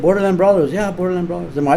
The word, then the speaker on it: Borderland Brawlers: Yeah, because I said Borderland Brawlers and nobody knows how to say it. Everybody says Borderland Brothers.